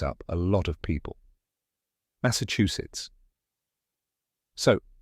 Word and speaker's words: Massachusetts: a lot of people Massachusetts so how do you say it correctly correct pronunciation is mass sits let's break it down step by step first mass like the word mass in massive next uh like the